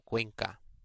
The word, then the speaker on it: Cuenca: You may have noticed that CU before any vowel is pronounced qua, as in Ecuador or Cuenca.